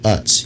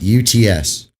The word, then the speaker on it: Utz: They're called UTS. UTS or no, UTZ, how it's spelled.